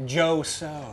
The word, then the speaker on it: Jo Soh: Jo So, number one, first of all, one of the coolest names we've had on the show. Oh, thank you. Jo So. I know it rhymes.